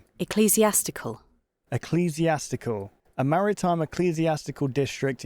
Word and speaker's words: ecclesiastical: Ecclesiastical. Say that again. Ecclesiastical.